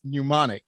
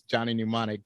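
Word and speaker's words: Johnny Mnemonic: the N the m the m is silent or is not exactly silent but it's it's so subtle that you don't have to pronounce it so it's Johnny pneumonic Johnny pneumonic was it's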